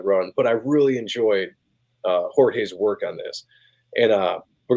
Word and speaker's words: Jorge: Although I hear a lot of people call him George Jimenez. So see, Jimenez. Yeah, to me, it's spelled Jorge Jimenez. It's Jimenez. Like, at least that's what my friends would say, or Ed would say. It's Jimenez. Jimenez. Pronounced like that.